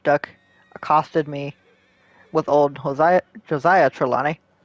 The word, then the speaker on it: Hosea: I've never known if it's Josiah or Hosea. Or Hosea. Well, no, it's not Hosea. What am I saying? It's not Hosea. I've always thought it was Josiah, because that's how they say it in the game, so I guess it is. Back and quite as slippery and confusing as ever.